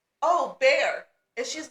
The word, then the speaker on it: Bexar: And so I'm like, oh, Bear. And she's like, no, that's Bexar. And I'm like, no. It's pronounced Bear. The X is silent.